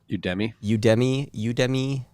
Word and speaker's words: Udemy: Udemy? Udemy. Man. I think it's Udemy. It's a horrible name. Udemy. It's like Academy, but you.